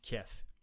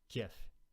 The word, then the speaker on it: Kiev: I'm trying to pronounce them correctly. Kyiv versus Kiev, right?